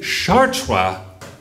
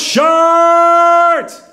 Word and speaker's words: Chartres: homemade sign that says don't say Chartres this ain't France the idiots around here Daniel leads his hand head out the window shows it's pronounced shirt he leans back Hicks